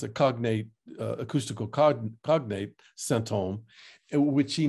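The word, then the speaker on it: sinthome: way it's spelled in French, and this is pronounced symptôme. And this is an old French spelling, which has this, it's a cognate, acoustical cognate, symptôme, which he names this new dimension of the symptom.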